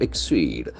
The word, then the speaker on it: exceed: buy car to exceed exceed exceed exceed cancel X and force a second syllable it's a very tricky spelling combination exceed to be data